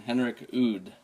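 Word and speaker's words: Henrik Udd: So whatever happens, Or the latest album is being produced by Frederick Nordstrom and Henrik Oud. Do I pronounce that right?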